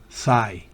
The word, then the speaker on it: sigh: Y to sigh, fíjese que ni se pronuncia la G y menos la H.